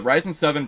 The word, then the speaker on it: Ryzen: The Ryzen 7, pronounced Ryzen 7, is a family of high-performance 64-bit